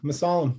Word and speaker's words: Mussallem: big fan of the show thank you i pronounced the last name sufficient yeah masala that's right awesome yes so um nick was